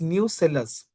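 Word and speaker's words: nucellus: is no third remember kindly don't misspell it like nucleus it's not nucleus it's new cellus the brain of the cell is nucleus But here I'm talking about new cellers but new cellers tissues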